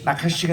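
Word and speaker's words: נחש: 나카시가 이제 뱀입니다. 이 뱀이고 나카시라고 카가 이게 강한 H 발음이에요.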